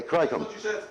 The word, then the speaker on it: Krijnkamp: Are any of our friends from Holland here that can pronounce this correctly? But Yes, is that correct pronunciation? Almost. Okay. What is it, Rob? What is his name? Oh, okay, Cricum. Yeah, I said not really. That was close. I got the K right, but other than that, it was, you know.